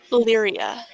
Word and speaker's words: Lyria: Lyria. Lyria. It's pronounced much the same as lyrium.